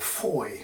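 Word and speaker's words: Fowey: river Foy or right the town is spelled Foy F we y but I think the locals call it Foy for some reason but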